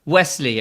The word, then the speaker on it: Waeschle: said to amy earlier how do i pronounce it and she said wesley it rhymes with nestle and i'm just thinking